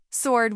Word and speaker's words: sword: Sword was tricky because the W is silent.